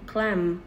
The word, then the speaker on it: climb: Climb thì chữ bờ bị câm, cho nên chúng ta sẽ phát âm là climb m nhé, climb.